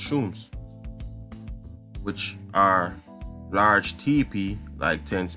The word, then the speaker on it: chum: They live in chums, pronounced shums, which are large teepee-like tents made from all tall poles and reindeer hides.